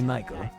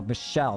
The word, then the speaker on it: Michelle: I'd much rather you just call me Michael. Okay, Oh, Michelle, that's how you say it, sorry.